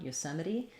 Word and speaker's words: Yosemite: our o there again so we'll have the yu sound from letter y r o and then stress on the sem with an e and then yosem meri meri we have a schwa here or an e sound here the t is going to be flapped and then our last e is actually going to say the e sound yosemite so i would write